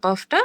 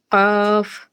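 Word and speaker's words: ق: হয়ে গেলে জিহবার গোড়া জিহোবার গোড়া তার বরাবর উপরে তালুর সাথে লাগিয়ে দুই নুক্তা ওয়ালা কফটা উচ্চারিত হবে কাফ কাফ কাফ যে ওবার গোড়া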